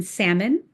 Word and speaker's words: salmon: You can blame the medieval monks for the silent L in salmon which has a similar history.